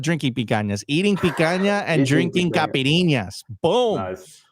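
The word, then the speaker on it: picanha: I I was just in Rio like two Sundays ago drinking picas. No, not drinking picas. Eating picana and drinking capirinas. Boom. Boom. I pronounced those correctly.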